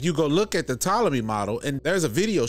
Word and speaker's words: Ptolemy: And it's Ptolemy, like you don't really pronounce the P.